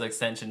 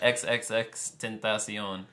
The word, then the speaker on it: XXXTentacion: I thought it was extension too, but it's a XXXTentacion. So whatever, pronounce it. I guess he's like Tentacion.